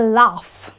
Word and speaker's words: laugh: Well, the pronunciation is a laugh, almost like a laugh, L-A-F. But when you write the word, obviously the G-H is silent.